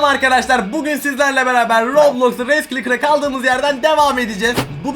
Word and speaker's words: Race Clicker: Raja Klitschker ne mavi, Race Clicker diye okunuyor.